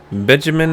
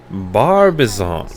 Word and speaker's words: Barbizon: Benjamin or what? Whatever. Barbizon.